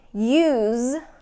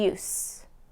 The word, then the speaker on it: use: examples of this so something like use and use okay I'm going to use and these scissors and these scissors have no use okay house and house